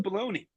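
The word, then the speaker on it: bologna: you call balone Jumbo no we call it baloney okay even though it's spelled balona uhhuh but uh my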